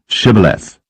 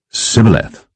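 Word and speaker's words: Shibboleth: said they unto him say now shth and he said Sith for he could not frame to pronounce it right then they took him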